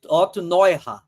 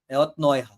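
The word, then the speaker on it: Neurath: A a pronúncia correta é Otto noir, não é? Otrair, certo? É, não é Otniira, tá bom?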